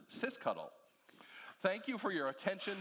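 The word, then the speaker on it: sysctl: disco and our favorite system control which is pronounced CIS cuddle thank you for your attention to this Pro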